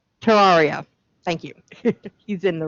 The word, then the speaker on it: Terraria: the game to tear how do you pronounce it terraria thank you he's in